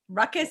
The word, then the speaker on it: Rukus: I am more familiar with the word that rhymes with ruckus and starts with F, because that's what people say to me all the time.